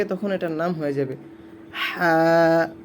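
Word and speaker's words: حاء: এটার নাম হয়ে যাবে হা। চিকন করে গলার ভিতর থেকে হা, হা। একটু খেয়াল করবেন, এখানে অনেকে হা বলে ফেলে, হা মোটা করে হবে না, এটা গলার ভিতর থেকে চিকন করে উচ্চারণ করা হবে।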